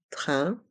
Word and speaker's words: train: train à grande vitesse dans le mot train les lettres A i n font le son 1 train et dans le mot